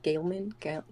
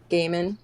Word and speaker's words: Gaiman: a fan of uh neil gaiman gaelman i'm gonna sing and butcher it uh neil gaiman gaiman there we go okay i feel like